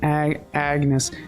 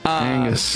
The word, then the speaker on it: Agnes: Hawthorne, Agnes, there we go. Make sure I'm saying it right now. Angus. Not Angus. Agnes. No.